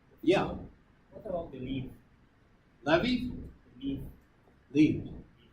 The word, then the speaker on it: levee: Levees? Leaf. Leaves. Spell. L-E-E-V-E. Yeah, well, I pronounce it levee.